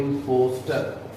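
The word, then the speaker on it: impostor: इम्पोस्टर. इम्पोस्टर और इम्पास्टर, both pronunciations are correct. इम्पोस्टर और इम्पास्टर, ठीक है.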